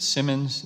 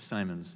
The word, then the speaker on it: Simons: that you have Commissioner is it Simmons set the pronunciation it's Simons its Simons okay well I was